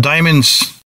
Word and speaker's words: Diemonds: girls check it out diamonds but it's spelled a bit different it's t IE M o NDS diamonds di e so look